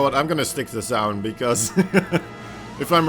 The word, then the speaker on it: Zaun: I mean, it rhymes with noun, so that's why I just call Exactly. him Zaun.